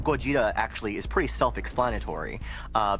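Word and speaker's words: Gojira: American audiences know this character as Godzilla, but the name Goja actually is pretty self-explanatory uh because it's a combination of Gorda, the Japanese pronunciation of gorilla, and then Kujira, which is the Japanese pronunciation of whale.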